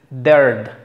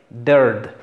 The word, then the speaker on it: dared: Después tenemos, propiamente es una E, parece una E, pero como en forma de tres es una E, es dared, dared, RD, no suena la E, dared, erased, erased.